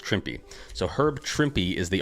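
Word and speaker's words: Trimpe: reason I bought this book, uh, is Herb Trimp is the artist. Uh, Trippy, actually, his name is is is actually pronounced Trippy.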